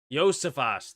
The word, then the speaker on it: Josephus: It'll be caught by Josephus. It will not. Josefas. That's how they say it, apparently.